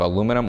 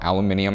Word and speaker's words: aluminium: are made out of aluminum or aluminium however you prefer to pronounce it same as These